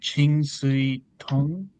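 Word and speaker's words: Ching Siu-tung: this film I think was his name's uh Chingu Tong that's how you say his name.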